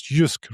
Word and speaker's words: Jysk: But they, in the slide deck, mentioned the case on, I always forget how to pronounce it, but it's Jysk, right? So there's a company, it's called Jysk.